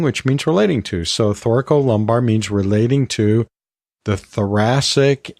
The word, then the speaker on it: thoracolumbar: division of the autonomic pathways, and that is thoracolumbar. And for some reason, I always want to say thoracolumbar, and I don't know why that is.